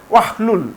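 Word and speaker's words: وَاحْلُلْ: হামজাতুল ওয়াসাল হচ্ছে বাক্যের মাঝখানে যখন আসবে সেটি আর উচ্চারণে আসবে না। সেটি আর উচ্চারণে আসবে না। তাহলে এই ওয়াটি সরাসরি এই হাকে ধরবে। এই হাকে ধরবে। তাহলে হবে ওয়াহলুল।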